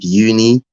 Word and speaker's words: Youni: for students to experience uni. Can you sort of elaborate on that? Yeah, so Uni is my uni. The business is spelled Youni.